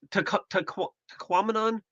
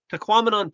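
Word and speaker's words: Tahquamenon: It's tquaminon. Tquamanon falls. rhymes with phenomenon or something like that.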